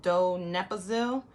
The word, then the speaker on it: donepezil: It's pronounced donepezil.